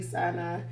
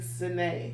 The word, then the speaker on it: Sinai: It looked like to us it should be Sinai, but it's actually Sinai, right?